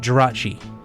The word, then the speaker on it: Jirachi: shield series on that same switch you get jirachi i believe that's how you pronounce it oh yes you're correct okay um